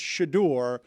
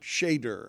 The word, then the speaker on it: Shedeur: So I I will let you know it's Shadore, not Shader.